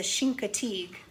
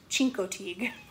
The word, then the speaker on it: Chincoteague: pony or Assateague pony so I said the first the second one right just it's a Chincoteague not a chinko team another pony word they're